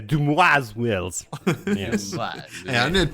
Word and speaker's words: Dumai's Wells: I think it's pronounced like the French would say, Dumai's Wells.